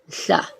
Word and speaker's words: Mhla: Okay, Mhla. That's another hard one to pronounce now.